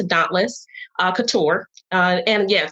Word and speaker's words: DÔNTLƏS: guess just spelled dauntless we spell it d-o-n-t-l-e-s so that's d-o-n-t-l-e-s but we pronounce to dauntless uh couture uh and